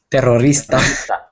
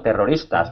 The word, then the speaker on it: terroristas: desde pequeños explicándolo siempre pronunciando la r terroristas pero es para alguien que no es nativo pues las palabras a lo mejor con doble r o ere inicial pues siempre cuesta un poco más pronunciar line exacto pero tengo que